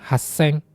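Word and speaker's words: 八千: Niseng, Yongseng, Goseng, Rekuseng, Nanaseng, Haseng. 8.000 haseng ya. Ada su kecilnya kiuseng, dan Ichimang.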